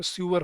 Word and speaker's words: sewer: से, सीवरेज होती है, सीवरेज ब्लॉक हो जाती है, सुनो सीवर, इसको सीवर बोलते हैं हम, लेकिन वो स्यूअर होता है।